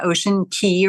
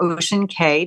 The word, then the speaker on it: Ocean Cay: So our first port was their private island, Ocean Key or Ocean Cay, depending on how you want to pronounce CAY.